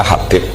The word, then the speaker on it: Habib: Itu di harakatnya kitab itu ada yang nulis Hubab. Tapi yang benar. Oh, nggih. Yang benar itu bacanya Habib.